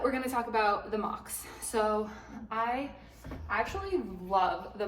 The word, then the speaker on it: Mach: I got the Mach 5s, and this is spelled M-A-C-H, and so I used to think it was Match. Match 5. It's Mach 5.